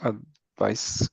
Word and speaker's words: advice: cuando es sustantivo se pronuncia como con S. Advice.